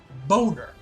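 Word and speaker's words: Bohner: last episode where there's a character named ralph boner and it's spelled b b-o-n-b-o-h-n-e-r ha-ha-ha-ha-ha you are not funny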